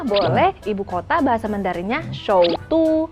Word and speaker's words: 首都: Ibu kota bahasa Mandarinnya Shoutu. Shoutu.